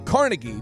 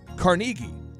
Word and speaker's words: Carnegie: The guy who wrote the book is often called Dale Carnegie, but really his name is pronounced Dale Carnegie.